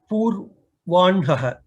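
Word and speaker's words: पूर्वाह्णः: Nakara is pronounced first. This is a special category of pronunciation. If you remember, whenever there's a combination of Hakara along with N, N, M, these three Sanyukta, these three Anunasika Varnas, in that case, the Anunasika will be pronounced first and later the Hakara.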